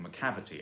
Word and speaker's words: Macavity: longer so for example macavity as in the mechanic mystery cat by TS Eliot that's the stress is on the cab and so you have